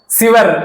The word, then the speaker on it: சுவர்: சீர்மை மிக்கது தமிழ்மொழி ஓகேவா இது சுவர் சிவர் அப்படின்னு சொல்லக்கூடாது சுவர் அந்த வார்த்தைகள் உச்சரிக்கும் போது கிளீனா இருக்கணும் சரி வளமை மொழி தமிழ்